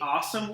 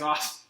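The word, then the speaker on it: Asomugha: Oakland named uh namdi awesome what I think was uh pronounced like awesome awesome and I don't know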